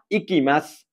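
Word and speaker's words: 行きます: इकिमास। के अरे? इकिमास। अनि सेन्से यो त सु हो त भन्नुहुन्छ भने यो सुलाई मैले अस्ति पनि भनेको थिएँ, यो सुलाई चाहिँ के उच्चारण गरिन्छ? स उच्चारण गरिन्छ मास फर्ममा।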